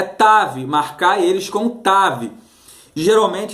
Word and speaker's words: tav: tav vav, que alguns você pode pronunciar como um tal ou como tav. Em se tratando da língua hebraica, nós falamos tav, uma vez que tav